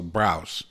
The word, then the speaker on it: Brous: you're killing his name i think it's pronounced like house so browse i love jason brousse's